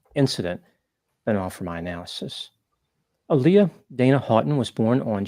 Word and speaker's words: Aaliyah: Aaliyah, yeah.